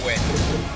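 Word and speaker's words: Vvyn: Gamer tag is Win. But it's spelled V-V-Y-N.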